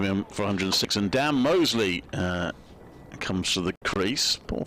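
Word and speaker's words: Moseley: It is pronounced Mosley, by the way. Sometimes even called Mousley and all sorts, but he does say Mosley.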